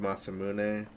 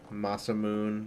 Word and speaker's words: Masamune: Like the blade, Masamune. No, not like how they say it in Chrono Trigger. Masamoon. That's not right.